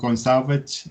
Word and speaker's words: Gone Savage: And today I've got a band from England called Gonesavage. And is that how you pronounce the name?